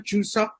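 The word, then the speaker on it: 추석: And are those traditional Chuseok? Am I pronouncing that right? Chuseok? The name? Yeah, you're pronouncing it perfectly.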